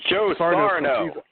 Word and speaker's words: Joe Sarno: is definitely moving high on my list of Joe Sarno's. Oh God, I'm saying it wrong. Joe Sarno.